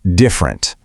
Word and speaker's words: different: It's not different. It compresses to different.